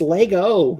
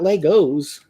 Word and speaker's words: Lego: love those dumb arguments it's Lego not Legos it's like people getting